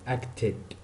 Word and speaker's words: acted: Okay, so this word they end ed and we pronounce them at the end ed.